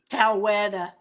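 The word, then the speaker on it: Coweta: Cowetta. I said it right.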